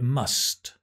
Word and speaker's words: must: And it's the word must that finishes in a T, right? Must. So if we say, I must go, nobody speaks like that, right? I must go. It's very, very strange. That T sound drops and disappears. So it's actually, I must go. There is no T.